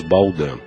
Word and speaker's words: Baldan: O ouvinte que tiver interesse pode acessar o canal do YouTube que leva meu nome, Baldan. Baldan. Baldan se escreve B de bola, A-L, D de dado, A-N de navio.